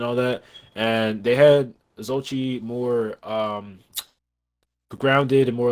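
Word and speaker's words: Xochitl: But Zochi, like I will say, because that's I believe that's how you say her name.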